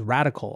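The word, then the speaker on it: Radkl: individual capacity in a firm called radical although it's spelled r-a-d-k-l it's a quant trading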